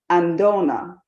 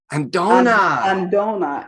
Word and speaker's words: Andina: So it's not pronounced the way that it looks. It's pronounced Andona. Andona.